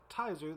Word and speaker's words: Tizer: Apparently, the name originally comes from the phrase "Tizer the appetizer," so I feel like I'm at least pronouncing it correctly.